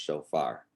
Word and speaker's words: shofar: And it's pronounced shofar.